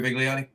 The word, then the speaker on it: Vigliotti: Anyway, uh I pronounced it right. Biggliotti.